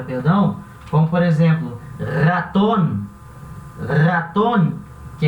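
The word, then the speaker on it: ratón: como por exemplo, raton, raton, que é rato, esse R vai ter esse som vibrante, a garganta vai vibrar. Então vai ser raton, raton.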